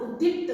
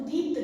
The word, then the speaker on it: उद्दीप्त: इतिहास का ऐतिहासिक, और उदीप्त, उदीप्त जो है इसमें एक आधा दा और बनना था, उद्दीप्त होता है शब्द, उदीप्त नहीं होता।